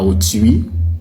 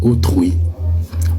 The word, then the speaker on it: autrui: le mot se prononce au trui. Autrui comme fruit. Construire, ce n'est pas construire, ce n'est pas fuit, ce n'est pas au mais on dit autrui, on dit fruit tout comme on dit construire.